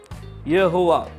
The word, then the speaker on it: यहोवा: और उसका प्रोनाउंसिएशन यहोवा।